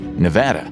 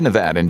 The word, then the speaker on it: Nevada: Fun fact, you can tell if someone is truly a Nevadan just by how they say the state's name. Locals stress the VAD in Nevada, meanwhile out-of-staters go for the VA.